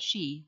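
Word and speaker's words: sìth: is a fairy cat sith or seed both pronounce she meaning fairy in catholicism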